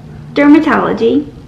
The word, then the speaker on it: DRMTLGY: talk to you about dermatology today so it's d-r-m-t-l-g-y without the vowels but it's pronounced dermatology and i've been on